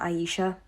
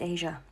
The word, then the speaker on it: Asia: No, my name is not Aisha, it's Asia.